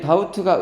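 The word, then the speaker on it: doubt: 3달러 가볼게요 자우 참 이게 다우트가 의심 이런 뜻이거든요 그죠 자우트가 의심이란 뜻이고 여기 b가 묵음이야 bt에서 b가 묵음이야 그래서 자 요게 의심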